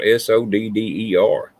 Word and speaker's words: solder: It's not solder, it's solder. But I guess it's just where you're from. Oh, over here it's spelled SODDER. In at least it was in Home Depot I went into. Oh, really? What'd you say? SOLDER? No, SODDER. Double D. Oh, really? Yeah. How they spell it over there? SOLDER. Yeah. So yeah, technically, I guess if you pronounce it like it's spelled, it would be solder.